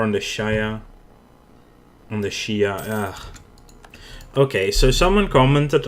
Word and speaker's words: Shia: It's my native tongue is Dutch, and in Dutch it is pronounced Shia, which is apparently the same as in English.